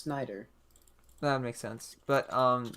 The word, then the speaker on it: Snyder: and they like rearranged i thought it was schneider i think it's just snyder that makes sense but